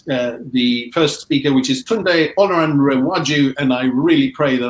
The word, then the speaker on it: Tunde Olanrewaju: And we're going to first invite the first speaker, which is Tunde Olanrewaju, and I really pray that I got that pronunciation right, to join us.